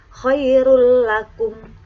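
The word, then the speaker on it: خَيْرٌ لَكُمْ: tulisan mirrobbikum dibaca mirrobbikum tulisan Khairun lakum dibaca khoirullakum itu untuk bacaan Idgham bilagunnah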